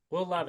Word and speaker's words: Levis: is your locking in will Levi we'll love it that's how you pronounce that name and it is